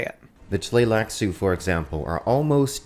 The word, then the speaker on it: Tleilaxu: How would you pronounce this word? Let's hear Quinn's Ideas say it. The Tleilaxu, for example, are almost not human. And now, Riley. Take the Tleilaxu, for example.